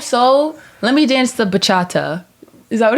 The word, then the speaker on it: bachata: Let me dance the bachata.